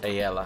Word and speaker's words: AELLA: v4 and v4 s I think it's pronounced a Ella I think so AE ll a hey Luke hopefully I'm pronouncing that right AE ll a hey